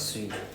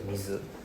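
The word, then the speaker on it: 水: Okay, but so when you see it here, doesn't mean that next time you see this word, oh, it's pronounced as sui. No, not really. Yeah. Okay, so by alone it's pronounced as mizu.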